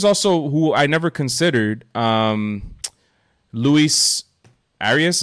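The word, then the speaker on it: Luis Arraez: who I never considered Luis arias is how you say it from the twins yeah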